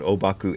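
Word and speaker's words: Ōbaku: because that's sort of his proper name in in Chinese is huangpo that's how the the Chinese pronounce it the Japanese pronounce it obaku anyway here's what obaku AKA huangpo had to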